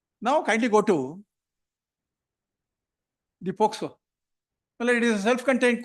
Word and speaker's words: POCSO: Quite often your lordship would say, listen until you say POCSO, not as POSCO. Telugu. Pronounce it properly, well, and therefore your lordship will continue to hear me. Generally it is done that way. I keep correcting. No, it's POCSO. ಪೋಸ್ಕೊಳ್ಳೋದಲ್ಲ. May I request your lordship